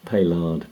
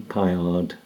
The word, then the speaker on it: Paillard: swiss made a swiss firm of payload bolex or if you use a french pronunciation pie hard boleks and were designed to